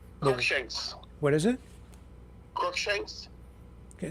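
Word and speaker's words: Cruickshanks: uh your your name Shanks what is it crook Shanks okay spell it for me and and I'll r u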